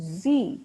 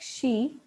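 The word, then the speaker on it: 嘻: And zi, pronounced like she, which connects the whole body.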